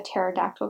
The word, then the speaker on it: pterodactyl: can't you hear a pterodactyl going to the bathroom because the pee is silent yeah did you get